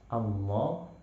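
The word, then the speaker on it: الله: atau lafaz Allah, misalkan Allah, maka bacanya tafkhim, tebal. Bacanya kita usahakan rahang di dalam mulut itu penuh dengan suara Allah, tebalnya seperti kita melafalkan huruf qaf, kha, ghain, seperti itu.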